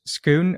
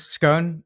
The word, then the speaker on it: Skoon: is scoon yeah so scon or as we would pronounce it in in the Netherlands scone we are an online